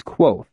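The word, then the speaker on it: Kvothe: his smile broadened mine my name is k pronounced nearly the same as quo names are important as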